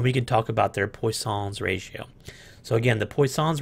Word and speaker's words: Poisson: a previous engineer and his last name was poisson it was French looks like it's spelled poison if we were here in the United States but I believe it's pronounced poisson I don't I'm not French so I don't know but this is a specific